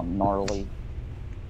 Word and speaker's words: gnarly: Oh, gnarly. You know gnarly spelled with a G.